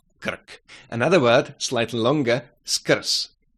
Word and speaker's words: skrz: Another word, slightly longer, skrz, skrz. Sk, sk, sk. Skr, skr, skrz, skrz. Again, z is pronounced s because the consonant is losing its voice at the end of the word.